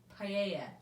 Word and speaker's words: paella: say it was called paella paella there we go i always want to pronounce the l's if you don't paella